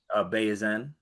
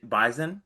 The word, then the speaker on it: Bayesian: Do you remember how to pronounce it? Bayesian. Bayesian, not a I think Bison.